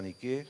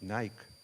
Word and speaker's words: Nike: Nike es la misma diosa que Nike la transformó en su marca, ¿eh? Pero en griego es con acento en la E.